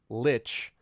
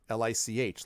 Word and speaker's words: lich: originally was correct so I always used to pronounce Lich as like li CH like lichen and but I was told no no no it's Lich and I also used